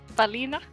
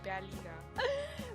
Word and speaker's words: Berliner: Balina? Yes. Yes. Yes. We probably say it with the accent as well, don't we? Yeah, it's such a huge noticeable accent. It's pronounced completely wrong. It would be Berliner.